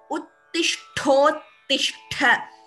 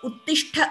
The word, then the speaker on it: उत्तिष्ठोत्तिष्ठ: Uttishthottishtha. So it is not Uttishtha. It's a Sandhi which is combined and we have to chant it as a combined word itself, combining the Sandhi.